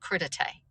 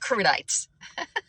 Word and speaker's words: crudité: It's called crudité. Not crudites. Wait.